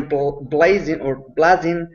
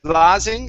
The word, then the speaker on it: blazing: Instead of blazing, it's blazing, long A sound.